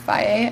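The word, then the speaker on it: Fage: It's F-A-G-E, but it's pronounced Faye, I think.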